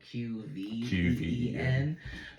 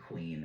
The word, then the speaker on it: Qveen: Anyways, mine is a song called "Vitamins" by Queen Herby, and I say her name is Qveen because it's spelled Qveen. But she pronounces it Queen, and I think that's fine.